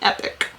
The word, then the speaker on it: epoch: e-p-o-c-h i think but we did look it up to see if we were pronouncing it correctly and it's actually epic uh so i will